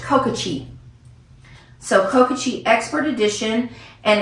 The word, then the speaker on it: Kokachi: And this is pronounced Kokachi.